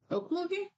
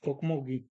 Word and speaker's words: Okmulgee: Think of how you pronounced Oklahoma. Okmogi? Okmulgee.